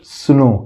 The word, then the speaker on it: snow: इसी तरह SNOW, तो S से ये हो गया आधा स, N से हो गया न, O से O की मात्रा लगा दिए, W साइलेंट है, तो क्या हो गया, सुनो।